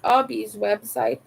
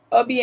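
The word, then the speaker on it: Hobbii: I've heard like um Obi employees saying that yes, this is the correct pronunciation when you say Obi. It's like a hobby, but since they are Danish, they pronounce it not really American, so they pronounce it like Obi.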